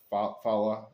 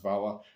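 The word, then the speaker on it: hvala: It's called vala or fala. I think it's pronounced vala. That's the word for thank you.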